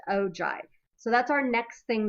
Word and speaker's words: ogive: So, the ojive is either a cumulative frequency graph or even though it looks like it's spelled ogive or og, it's pronounced ojive.